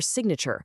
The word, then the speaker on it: signature: That silent G in sign is what helps connect it to related words like signal or signature, where all of a sudden the G is pronounced.